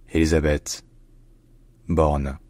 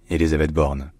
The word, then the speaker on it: Élisabeth Borne: employment and integration in French her name is pronounced Elizabeth Bor Elizabeth born Elizabeth born Elizabeth born all right if you enjoy learning